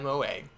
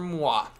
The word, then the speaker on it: moi: That is A-OK by MOA. MOA stands for moi. That's how the French say me.